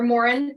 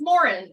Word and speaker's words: Moran: But it is technically, in Ireland, it is pronounced Moran, and my husband's from Ireland.